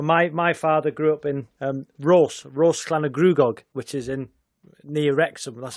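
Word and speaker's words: Rhosllannerchrugog: Well, my father grew up in Rose Clanagruagog, which is near Wrexham. That's how you pronounce it.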